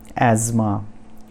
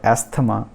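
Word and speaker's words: asthma: तो पहला जो वर्ड है वो है एज़मा, एज़मा नॉट एस्थमा। बहुत सारे डॉक्टर लोग भी इसको गलत प्रोनाउंस करते हैं, तो इसको हम बोलेंगे एज़मा।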